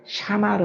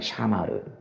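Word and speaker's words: שמר: 일구다라는 건 어떻게 발음하냐면 아바드 한다고 그러거든요. 아바드. 이제 지키다라는 건 샤마르 한다고 그래요. 샤마르.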